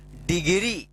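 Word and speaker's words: degree: अब इसका उच्चारण क्या होगा? डी ई से आप देख रहे होंगे डी ई जी डेक री नहीं इसको डी पढ़ेंगे डी ई से डी जी are double E से ग्री डिग्री क्या पढ़ेंगे इसको डिग्री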